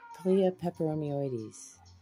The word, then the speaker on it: peperomioides: how i'm separating this paliya pepperonioids pepperonis cleoperomeoides is how you say it okay so there's